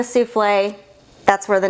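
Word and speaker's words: soufflé: They called it a shuffle because these ladies actually thought it was funny to mispronounce French words. So instead of calling it a souffle, that's where the name came from.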